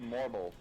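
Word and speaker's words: Morbol: these ones are pronounced Morble.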